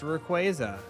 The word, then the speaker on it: Rayquaza: No, they they did clarify it's Rayquaza, right? that stupid stream where they were like, "You all have been saying it wrong forever. It's Rayquaza.